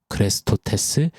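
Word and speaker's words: χρηστός: 헬라어 크레토스는 원어가 사용됐습니다 우리가 예수 그리스도 할 때 그리스도를 크리스토스 하죠이 유사한 발음이 되었어요 크레스토스 크리스토스 그래서 초대교회 때는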